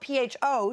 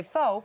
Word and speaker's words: pho: because it's spelled P-H-O, so people say pho, Yep.